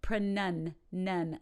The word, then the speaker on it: pronunciation: it is so the noun pronunciation pronunciation in a church nun or I have none I have any money